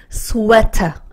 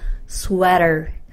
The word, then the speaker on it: sweater: 영국 영어에서는 T를 살려주고, 미국에서는, R로 부드럽게, 연결해준다. 들어보셨죠? 그래서, sweater. 이렇게 읽으시면 약간 영국 발음에 가깝고요. 내가 미국 사람처럼 좀 부드럽게 읽고 싶다. 그러면, sweater.